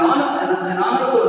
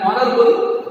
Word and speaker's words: honorable: An honorable man.